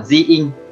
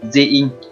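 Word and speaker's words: 寺院: Cách đọc của nó là ji-in, ji-in.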